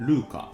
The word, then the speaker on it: RVCA: 鉄板のブランドがルーカです RVCA って書いてルーカって読むんですけども